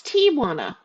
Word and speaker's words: Tijuana: Everyone pronounces it Tia, and it's Tijuana.